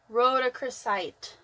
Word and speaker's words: rhodochrosite: It's rhodochrosite.